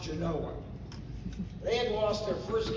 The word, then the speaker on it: Genoa: Our first game was against Genoa, spelled Genoa, pronounced Genoa.